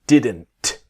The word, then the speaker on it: didn't: here did not to didn't the t sound what we want to learn is about the t is silent right so didn't very